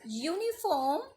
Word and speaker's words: uniform: why you so here the word uniform is start with the Y sound so here we have